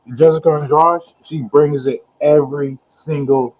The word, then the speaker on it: Andrade: Andrade versus Yang.